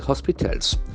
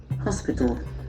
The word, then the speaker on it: hospital: used to guard God must be able the hospitals sus government that is the very industry observation we check the pronunciation of h-o-s-p-i-t-a-l it has got multiple syllables hospital hospital excellent force of the first syllable hospitals